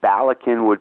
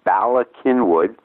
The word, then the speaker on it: Bala Cynwyd: What two professional leagues had their headquarters in Bala Cynwyd, BALACYNWYD, pronounced Cynwyd, a Welsh word, had their headquarters in Bala Cynwyd, Pennsylvania?